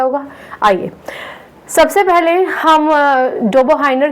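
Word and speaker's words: Döbereiner: German में इनको डोबो हाइनर कहेंगे, डोबो हाइनर। लेकिन अगर आप इंग्लिश में इनका नाम पढ़ेंगे तो आप इसका प्रोनाउंसिएशन करेंगे डोबो राइनर, राइट। ठीक है, तो डोबो हाइनर या डोबो राइनर दोनों ही करेक्ट है, एक जर्मन में एक अंग्रेजी में।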